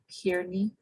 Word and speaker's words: Kearney: Kathy Kearney, I think is how you say your last name. Yes, that's right.